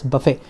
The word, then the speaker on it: Buffett: Although the spelling is Buffett, it is pronounced as Buffett, Warren Buffett.